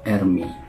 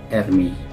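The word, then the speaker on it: Ερμής: Yunani pelafalannya disebut dengan Ermi saya mencoba mencari melalui Google Translate Bagaimana cara membaca kata Hermes dalam bahasa Yunani dan yang muncul di situ adalah Ermi patung ini ini sebelumnya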